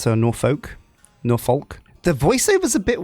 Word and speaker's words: Norfolk: Your first task is to create a rail connection between Omaha and Norfolk to the northwest. It's pronounced Norfolk, not Norfolk.